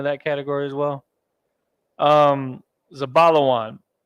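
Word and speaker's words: זבולון: category as well um zabalawan zabala one now we're gonna start building that word za ba la and then wa and then a na at the end zabala one foreign okay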